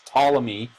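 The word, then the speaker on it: Ptolemy: you can see here that's spelled with a p PT o l m y was that's how that's tmy he was one of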